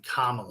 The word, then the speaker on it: Kamala: I just got the pronunciation. Kamala.